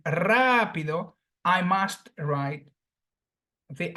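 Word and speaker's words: rápido: has three syllables and because the phonetic accentuation falls on the third syllable before the end Rapido I must write the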